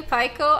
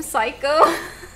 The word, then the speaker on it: Paiko: two years I knew paiko I know I I've read his name wrong I called him psycho two years it took me two years to realize his name wasn't psycho two years I'm embarrassed to